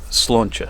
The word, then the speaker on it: Sláinte: It's just one of these things, the pronunciation thing, isn't it? You don't know until you know. So Sláinte, Sláinte, Sláinte, Sláinte.